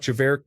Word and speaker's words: Javert: Turns out Javert didn't have a hard T on the end either.